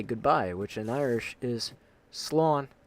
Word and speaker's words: Slán: So instead, I will just say goodbye, which in Irish is Slán. S-L-A with the little line, the fada, N. So S-L-A-W, not A-W. S-L-A-N. It's pronounced with the W in there, so Slán.